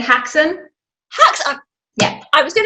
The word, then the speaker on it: Haxan: How do we pronounce it? It's actually said Haxan.